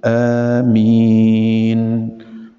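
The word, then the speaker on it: آمين: في الهمز الاولى في عندك همزتين تقول امين في الاولى يعني بترفعها حركتين امين وتخليها اربع حركات هذا هو الصحيح اولا تنتظر الامام حتى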